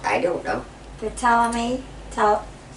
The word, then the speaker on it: Ptolemy: Patel? I don't know. Ptolemy. Is it the P silent? Ptolemy. Ptolemy. Yeah, like the The pink ninth. pterodactyl. Go That Richard. joke. co-regent when her husband, Ptolemy the Eighth, died.